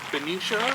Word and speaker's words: Benicia: And how do you pronounce this name of this park? So this park is called Benicia Benicia.